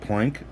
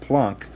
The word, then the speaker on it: Planck: you got under snappin mispronouncing it plank for most of my life and then I heard Morgan Freeman on through the wormhole call it plunk look at Morgan Freeman calls it plunk it's got to be